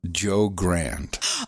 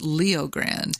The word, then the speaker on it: Leo Grande: Hey, you sit down, you get yourself some Netflix, and you turn on Joe Grande. Oh, no. With Emma Thompson. No, you got that name wrong. It's Good Luck to You, Leo Grande.